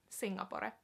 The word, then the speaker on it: Singapore: It would be pronounced, not pronounced, it would be written the same, but just pronounced in a more finished way. So Singapore, Singapore, Singapore.